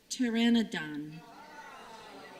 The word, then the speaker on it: pteranodon: I dropped a syllable. It's pteranodon.